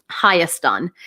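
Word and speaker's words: Հայաստան: also mention here that the country you know as Armenia is not Armenia at all its real name is um hayastan and the reason why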